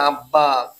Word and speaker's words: আব্বা: তার উচ্চারণ হয় না যেমন আমরা বলি আব্বা আ বয় ব আকারে বা আব্বা এখানে কিন্তু একটা বা উচ্চারণ হচ্ছে না আমরা এটা ভেঙ্গে লিখবো